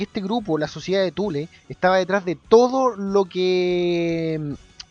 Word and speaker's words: Thule: tú le tú le parece se pronuncia tule tú le ojo estoy diciendo tú le no tú la tú le la sociedad